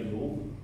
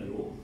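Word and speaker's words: 旒: 个油啊，或者是读成这个油，现在它是读成油还是读成流？啊，这里读成那个流啊，就是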